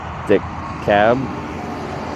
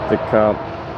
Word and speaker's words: DeKalb: DeKalb, Illinois has a hard L.